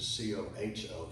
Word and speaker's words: Coho: The word Coho in Spanish means lame, and because Americans don't pronounce a J like that, then he changed it to C-O-H-O for Coho.